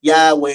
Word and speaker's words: Yahweh: in the Hebrew Bible often pronounced as Yahweh in English so while not directly